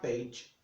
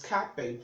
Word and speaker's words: cage: cage now often time people get a pronounce that Gage not knowing as cage because start with letter C so it is cage cage if you noce you